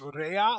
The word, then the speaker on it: Rea: boot there Rea it's it's Rea like re EA so wherever you're looking